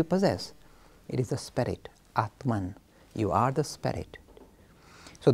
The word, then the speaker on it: Atman: And Atma becomes Atman.